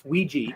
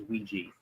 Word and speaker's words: Ouija: not Ouija Ouija it it's a it's Ouiji that's the the actual pronunciation for it okay there there